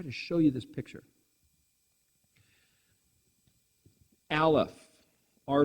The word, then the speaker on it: Aleph: The letter Aleph in Hebrew is silent.